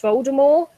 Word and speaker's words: Voldemort: Did you know Voldemort's name is pronounced Voldemort? Like, fuck off, J.K. Rowling. Jesus. It's French. You dropped the T.